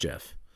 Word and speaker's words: GIF: say jif offends you it's pronounced jif all right the folks at compuserve